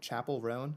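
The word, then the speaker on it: Chappell Roan: I don't know her music that well, but Chapel Roan, is that how you pronounce her name?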